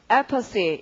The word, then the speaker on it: apathy: 강세가 앞입니다. 그럼 발음은 어떻게? apathy 이렇게 읽겠고 여러분 제가 하기 전에 먼저 여러분이 하시고 나름대로 연습을 하시죠.